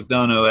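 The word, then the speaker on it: McDonough: mcdono who is the apparently that's how he pronounced it Neil mcdono as the I like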